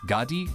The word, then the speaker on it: Ghadius: Enter Ghadius and his minion Joka, pronounced in the game's Phantomile language as Gadi and Jok.